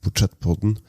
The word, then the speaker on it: Portrætpodden: You're listening to an episode of my podcast Portrætpodden, as it's pronounced in my native Norwegian, or The Portrait, as I refer to it in English.